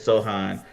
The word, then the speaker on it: Sochan: Maybe you could talk me into a little is it Sohan or Sochan? How do you say it? Sohan. It's Sohan. Yeah.